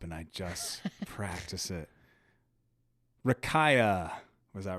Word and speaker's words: Rakija: it was like Rakira. We're going to do a pause and check on it. We'll be right back. Dang it. I said it wrong. It is Rakia. Rakija. Rakia.